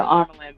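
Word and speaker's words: Amyrlin: So I call her Amelin. I'm pretty sure that's how it's pronounced.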